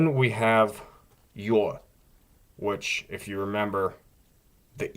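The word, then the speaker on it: Ю: After that, we have you, which does change pronunciation maybe a little bit. Again, it's maybe slightly diminished, but again, notice that difference in the Russian, the vowel sound.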